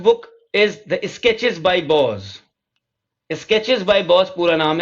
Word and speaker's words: Boz: about the city, and he signed these sketches Boz, B-O-Z.